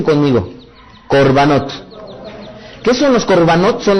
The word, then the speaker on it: korbanot: algo que le han dado por llamar corbanot pronuncian conmigo corbanot Qué son los corvanotes son los sacrificios vamos